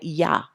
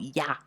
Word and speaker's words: Yah: the he together and they call it yah as in yam all right just to give you the sound of yah and then they have